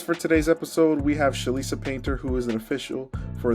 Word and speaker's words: Chelisa Painter: Jersey um today we are joined by by shalisa painter that's how it pronounce right yes perfect um she is an